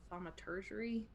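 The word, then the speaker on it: thaumaturgy: I have thaumaturgery. That's how you say it, and that can make your voice 3 times louder.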